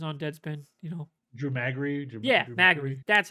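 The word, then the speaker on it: Drew Magary: defector or was on dead spin you know drew maggie yeah that's how you say it that's how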